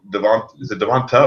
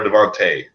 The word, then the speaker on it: Devonta: I mean, is it Devonta or Devontae? I think it's pronounced either way. It ends in an A, so they call him Devontae or Devonta.